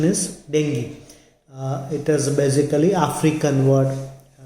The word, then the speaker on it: dengue: Many people call it dengue also, but the correct pronunciation is dengue.